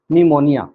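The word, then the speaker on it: pneumonia: निमोनिया, निमोनिया में P silent होता है।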